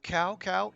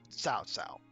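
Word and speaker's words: 曹操: people here uh I know that looks like cow cow it is not it is actually it's pronounced like TS so South South just a little tidbit should you ever need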